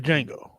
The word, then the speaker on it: Django: she would Sushi trade the Django or Django get the D silent remember yeah Siegel the pale